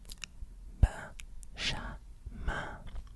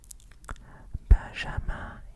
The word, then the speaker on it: Benjamin: So you put this all together. Ba, sha, ma. Again. Ba, ba, sha, ma. Again. Ba, sha, ma. Ba, sha, ma. Yeah. Benjamin, yeah.